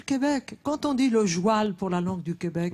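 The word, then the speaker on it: joual: Quand on dit le joile pour la langue du Québec et ben c'est comme ça qu'on dit le cheval en tourenne et en enjou on dit le jou. Le joile on prononce joil.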